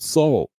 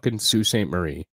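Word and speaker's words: Sault Ste. Marie: people are like oh it's spelled salt no it's Sue St Marie get over it no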